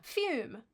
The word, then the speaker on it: Fume: Fume rhymes with broom.